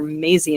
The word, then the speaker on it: Maisie: felt like Daisy, and I should not forget that name because it rhymes with Daisy, and our sheeps are Maisie and Daisy.